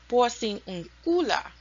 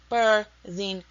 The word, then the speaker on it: Porciúncula: And that is the Italian version, the Italian pronunciation. And so the Spanish pronunciation of it is Porciúncula. And in Italian is Porciúncula.